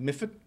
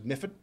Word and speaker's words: Medford: But moving out of Mifford, spelt Medford, pronounced by us Bostonians as Mifford, don't know why.